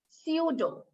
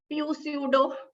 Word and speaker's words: pseudo: Letter P is also silent when it is followed by S in most of the cases. For instance, psychiatrist, psychology, pseudo. We don't pronounce it as pseudo, right? So P is silent when it is followed by letter S.